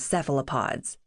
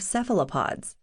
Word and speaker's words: cephalopod: they've never heard of cephalopods. The accent is on the first syllable, cephalopod. Some folks in the UK and Europe honor the word's ancient Greek heritage with a hard C, cephalopod.